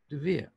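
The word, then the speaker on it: דביר: It is pronounced Devere.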